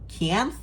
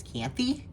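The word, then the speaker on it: Kianthe: So this is Raina and Kianth is how I found out it's pronounced. I'm pretty sure Kianth. I thought it was Kianthy because there's an E at the end. So I thought that was an E sound, but Rebecca said it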